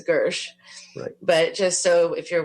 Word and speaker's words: Gershe: his last name is really spelled like it's pronounced Hershey but it's Gersh but just so if you're when you're looking